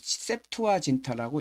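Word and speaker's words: Septuaginta: 여기 설명이 조금 있는데 세투아 진타라고 읽어요. 세트화 진타는 라틴어를 70이란 뜻입니다. 영어로는에 A만 빼면 됩니다.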